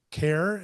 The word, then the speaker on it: CAIR: Care it's spelled CAIR, is kind of designed to do that, and we're going to expand on that to empower patients more.